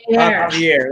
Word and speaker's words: Javier: Javier. That's how you say it. Even though it's spelled with a J. It's like a tongue twister. Javier, like Jose is Jose.